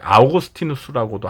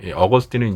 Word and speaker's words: 어거스틴: 이제 마지막네 번째 어거스틴입니다 이제 아우구스티누스라고도 하는데 일반 아오스티누스는 이제 라틴어고요 어거스틴은 이제 영어식 발음입니다 그러나 우리 일반인들에게 어거스틴이라고